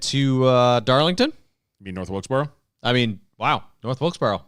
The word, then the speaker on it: Wilkesboro: North Wilkesboro, I I'm meant. not sure. Someone didn't change his notes. Nope. It's pronounced Burra.